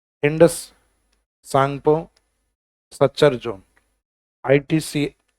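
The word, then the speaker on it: Tsangpo: तो टी को काउंट नहीं करके यानी साइलेंट है ये। वैसे ही ये टी सांगपो नहीं होके क्या है? सांगपो।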